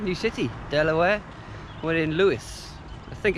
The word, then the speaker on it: Lewes: We're in Lewes. I think it's called Lewes. It's spelt Lewes.